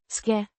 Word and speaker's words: skal: Skal. Means shall or must. Pronounced. Skal. The Skang. sounds like shk in shk-boom. The a is like the a in father, and the l is a soft l.